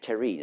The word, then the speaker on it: terrine: And the word terrine, it's from French terrine, an earthenware dish. And though we spell it in a funny way, it's still pronounced the same way the French do.